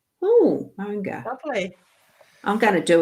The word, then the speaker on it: Maunga: Right, Maunga is pronounced, I want to see this, is pronounced now as in mow the lawn, and nga as in ga. Nga. So Monga. Oh, Monga.